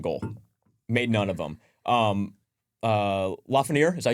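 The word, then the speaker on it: Lafrenière: Lafreniere, is that how you pronounce it?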